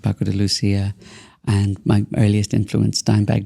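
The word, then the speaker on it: Paco de Lucía: So who would you say, I know Paco de Lucia, am I pronouncing that correctly?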